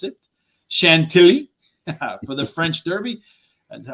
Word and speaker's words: Chantilly: and we're going to go to as i pronounce it chantilly for the french derby and what's the right way tom shanti shanti all right so you got to say